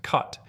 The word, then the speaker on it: khat: This is khat, pronounced kot, and it has one of the most fascinating legal stories of any plant in the world.